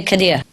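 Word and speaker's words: Khidr: d r any Muslim Kad Kad yeah a Kad are you a Muslim no no but you know Kad yeah I hav ever heard okay Kad with ey in the middle of it okay Kad mean is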